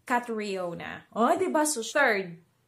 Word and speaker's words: Catriona: Kumbaga, Cat, yung C-A-T, as one syllable, and then re, R-E-E, as another syllable. So, hindi daw Catriona, it's Catriona.